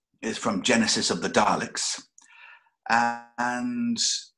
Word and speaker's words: Daleks: Daleks. That's the correct way to pronounce it.